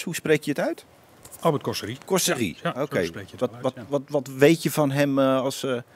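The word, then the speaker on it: Albert Cossery: Als het een Fransman is, hoe spreek je het uit? Albert Cosserie.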